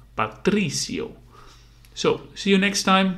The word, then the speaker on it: Rui Patrício: famous uh goalkeeper and you say it like this rui Patricio so you have the accent on the uh on the first uh I and you say rui so it's more like one rui Patricio so you have the accent on the E Patricio so see you next